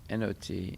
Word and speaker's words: knot: it's not just n-o-t there's a difference between not n-o-t and not k-n-o-t and knot is a